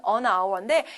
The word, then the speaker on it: hour: 세 번째 밑줄은 hour인데 이거는 오히려 잘 들어가는데 시험에는 a 하고 나올 수도 있으니까 유의하세요. 모음 발음이에요. H는 소리가 나지 않습니다.